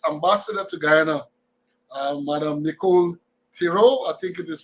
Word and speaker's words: Theriot: Ambassador to Guyana, Madam Nicole Theriot, I think it is pronounced. Well, when I think it is Theriot, so if you break it down, it's the riot.